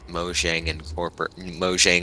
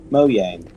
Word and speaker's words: Mojang: No, I thought he was the director of internal affairs at Mojang Octibulog.